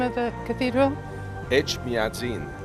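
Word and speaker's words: Etchmiadzin: how to say the name of the cathedral H madin H madin yes yes okay I heard it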